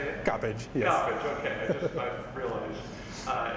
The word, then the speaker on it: Coppage: Coppage, yes.